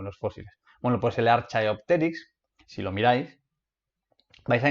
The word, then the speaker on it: Archaeopteryx: transicional que se llama archaeopteryx vale o archaeopterix porque la ch se pronuncia como k como nota curiosa hay